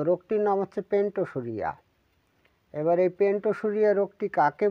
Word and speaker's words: Pentosuria: ইউ আর আই এ উচ্চারণ হচ্ছে পেন্টো পেন্টো সু ঋ ঠিক আছে বাংলা উচ্চারণটাও এই রোগটির ইংলিশ নাম হচ্ছে পেন্টোসুরিয়া এবার আমি আপনাদের প্রথমে বলে